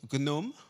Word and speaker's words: GNoME: want to ask you about one it's called gnome or gome how do you pronounce it actually just tell us what it's about and what it does sure so uh so it's called gome which stands for craft network uh for material